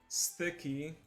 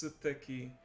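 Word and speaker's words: すてき: And another one is steki. The U is silent in this case. Suteki.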